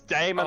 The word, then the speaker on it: daemon: They're spelled, it's Damon Oh. spelled with an A right before Yeah.